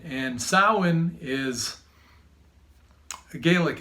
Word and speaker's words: Samhain: Patrick J year but cosmic Alchemist and happy soin so you've probably seen this word Salman and writing before but in phonetic English it's Samhain but saman you know incidentally is the pronunciation and sowhen is a Gaelic it's a Celtic word a